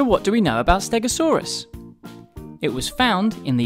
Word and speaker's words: Stegosaurus: triceratops today we're going to learn all about stegosaurus how do you say that again stare go saw russ can you say it with me go saw russ so what do we know about stegosaurus it was found in the united states and